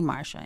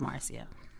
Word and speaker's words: Marcia: because every none then people mispronounce my name and call me marsha instead of marcia do you do that